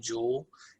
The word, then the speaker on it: Juul: So it's not spelled the same way as you think jewel, as in like jewelry, J-U-U-L.